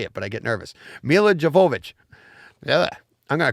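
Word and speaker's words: Milla Jovovich: devote joe i knew i'd screw this up mila javova javovich ha ha i knew it i knew i know how to say it but i get nervous mila jovovich yeah i'm going to call her mila from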